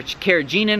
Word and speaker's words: carrageenan: So we all know, you didn't ask about it, but carrageenan, or carrageenan as some people pronounce it, is extracted from